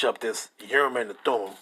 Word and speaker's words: Thummim: That says Thamayim, right?